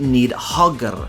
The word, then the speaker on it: Níðhöggr: Yet perhaps even more fearsome is the "Níðhöggr" (pronounced "nig-hog-r").